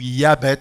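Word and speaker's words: Jaebets: Pour parler de cela, j'aurais pu choisir beaucoup d'exemples, mais j'ai choisi l'histoire de Jabet ou Yabet, si on le prononce de façon hébraïque.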